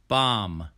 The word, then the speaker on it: bomb: words with silent b often times when you see the consonant m b together the letter b will be silent for example we do not say bomb we say bomb bomb bomb climb climb comb